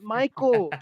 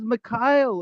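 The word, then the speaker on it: Mikael: His name is not Michael. His name is Mikhail. His name is not Michael. It's Michael. I do not. Mikhail. Dude, I'm American. His name is Michael. He's from Finland. His name is Mikhail.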